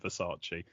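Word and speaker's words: Versace: dress we must say I'm pretty pronouncing it Vace because that's what she pronounces it in the film instead of verace and it's funny because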